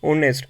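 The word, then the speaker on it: honest: friend C is dash ऑनेस्ट एच यहां पे silent है तो ऑनेस्ट ओ तो व कौन सी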